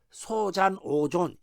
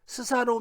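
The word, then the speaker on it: 소잔오존: 하지만 , " 소잔 오존 " 처럼 한자로 표기 된 사람 의 이름 은 " 스사노오 " 나 다른 일본어 발음 으로 읽어서 는 안 됩니다 .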